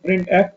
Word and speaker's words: printf: ये printf ये लिखा हुआ है, इसको प्रोनाउंस क्या करते हैं printf और इसको क्या पढ़ते हैं scanf।